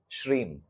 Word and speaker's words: श्रीम: श्रीम M last में pronounce S एच R double E एम इसको कैसे बोलोगे श्रीम ओम श्रीम ओम श्रीम